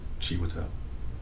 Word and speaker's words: Chiwetel: that, but yeah, that's Cheetah Ejiofor and Mark Wahlberg's in the movie. You were close. What? I think you said like Cheetah. How do you pronounce it? I would say Chiwetel.